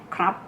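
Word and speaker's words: ครับ: If you are a guy, krab. Yeah, let's pronounce this together, krab. It's like you said John krab.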